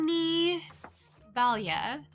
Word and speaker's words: Nivalia: And then Nivalia. So an E at the end of a word just makes it a Y.